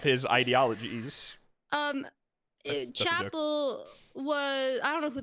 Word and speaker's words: Chappell: Okay, I say Chappelle. That's how I say her name. I think it's Chapel, or at least most Yeah, people I say know. Chapel. I know it's Chapel, but I can't not say Chappelle.